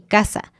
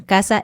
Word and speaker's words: caza: en general de Latinoamérica no hacemos una diferencia para nada en el sonido de estas tres letras. La letra C suave, C sí, la S suena también como S y la Z también suena así, suavemente. Entonces, por ejemplo, el problema que tenemos a veces es que tenemos palabras que se escriben con S o Z, que obviamente significan cosas distintas, pero las pronunciamos igual, como casa y casa.